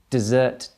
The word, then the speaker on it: dessert: like your ice creams dessert desert okay listen again desert desert and the final one